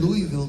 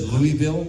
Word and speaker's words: Louisville: I was in Louisville, Kentucky last week, and before I was on stage, I had to do a little video. And you said Louisville? No, Louisville.